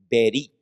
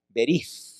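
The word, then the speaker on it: בְּרִית: Y esta palabrita en hebreo se dice berit. ¿Cómo se dice? Berit, con TH al final. Algunos la pronuncian así como en inglés, la TH como theology, o TH como si fuera Z española, ¿verdad? Berith, con la lengua afuera.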